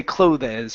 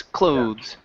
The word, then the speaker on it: clothes: So this E is silent. We don't say clothes, it's clothes. Clothes.